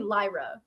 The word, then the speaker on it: Lyra: doing good great good did I pronounce it right lra or is it Lyra it's actually Lyra it is Lyra we've gotta get that